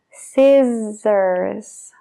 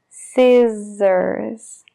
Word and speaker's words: scissors: de una serpiente hes pero en este caso realmente la doble s se pronuncia como una Z sissors scissors Entonces es un s